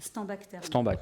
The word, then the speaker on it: Steinbach: On dit Steinbach, ah oui, tu ne prononces pas l'alsacienne, d'accord.